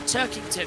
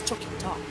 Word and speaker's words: Turkington: As I said Turkington as Tucking Tom. Gotta be careful how you pronounce that.